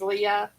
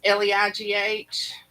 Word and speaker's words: Leigh: I've always used it as Leigh, but I have heard people use it as Leah. It's Leigh, but I went to school with a girl.